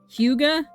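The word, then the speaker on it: hygge: Huga.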